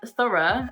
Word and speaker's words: thorough: in the same way through the ending is boom and thorough the ending is ah and they're both spell